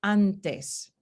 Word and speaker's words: antes: punto de articulación dental un ejemplo de esta asimilación ocurre en la palabra antes la transcripción fonética es anna es antes sin embargo los hablantes no pronunciamos está n como alveolar ya que llega la de después y está consonante es dental anticipamos este punto de articulación y entonces lo cambiamos en la nasal así que este al